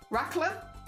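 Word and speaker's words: raclette: Uh, short like ra. Oh, like rackler rackler. Regardless, very hecking cute.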